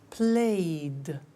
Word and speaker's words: played: So, the pronunciation of ed becomes D. It becomes played.